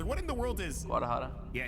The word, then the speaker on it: Guadalajara: Like I've been to like Guadalajara. Oh Lord, what in the world is? Guadalajara. Yeah, she gotta teach him Guadalajara? You missed a syllable, buddy.